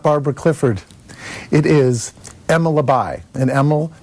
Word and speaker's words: Labaj: this is not Barbara Clifford it is Emma labai and Emma it's spelled La badge but it's pronounced lavai Emil is owner of the right step custom